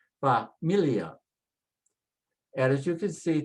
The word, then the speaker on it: familia: And again, it ends with a vowel, stress next to the last and say familia, familia.